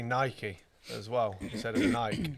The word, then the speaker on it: Nike: like that came out and said it's actually pronounced Nike they really yeah from being in the industry